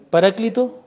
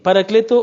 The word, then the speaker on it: Paráclito: Sí, Paracleto o Paráclito. Algunos dicen que se pronuncia así, otros que se pronuncia así. Paracleto o Paráclito. Porque es que lo que pasa es que hay diversas maneras de pronunciar el griego.